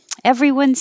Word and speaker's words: everyone's: here let's get started everyone's here everyone's that s is now a z everyone's here let's